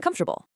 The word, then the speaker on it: comfortable: They crush these four syllable monsters right down to three, so it naturally becomes vegetable and comfortable.